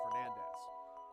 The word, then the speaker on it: Belnades: heritage was as a Belnades. However, according to the Japanese versions of the game, as well as Castlevania 64, the name is pronounced closer to Fernandez.